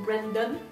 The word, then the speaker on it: Brandon: l'ascension du mont Brandon j'aurais tendance à le prononcer à la française mais je pense qu'on est censé dire mon Brandon j'ai dit essayer parce